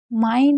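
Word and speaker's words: mind: माइंड में क्यों आई पढ़ रहे हैं, क्योंकि आई एन डी को भी आई आई आइंड पढ़ा जाता है, यानी कि अगर आई के बाद एन और डी होता है तब भी हम आई को आई पढ़ते हैं।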